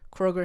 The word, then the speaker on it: Kroger: typed it into Google, and I was like, wait, why is it just Kroger? I was like, oh, she's been saying it wrong the whole time.